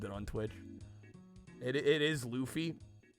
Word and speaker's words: Luffy: It is Luffy. It's spelled Luffy.